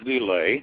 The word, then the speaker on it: LIL: Starting with Teats and ending with Lile, which is pronounced Lil, which has, of course, that's some jokes about that.